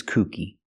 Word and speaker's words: kooky: tells strange jokes he's kooky that's with a long ooh sound like Moon and soon cookie but the word cookie